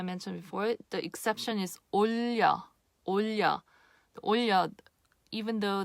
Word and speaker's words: 올려: But again, And again, as I mentioned before, the exception is 올려.